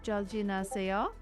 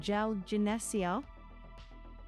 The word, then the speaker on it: 잘 지내세요: Start with 안녕하세요 and then ask 잘 지내세요. Use your silly hook if you need it. 안녕하세요. 잘 지내세요. Really close. Try 잘 지내세요.